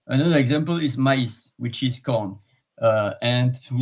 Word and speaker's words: maïs: Another example is maïs, which is corn. And to not confund with me, because M-A-I-S is me, but M-A-I-S with the tremor on top of the I is pronounced differently, maïs.